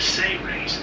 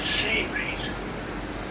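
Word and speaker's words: Seras: Beings like Terrellian, Ambassador Terrellian, is the ambassador of the Say race, S-E-R-A-S, but it's pronounced as if it was spelled S-A-Y-R-A-Y-S, Say race.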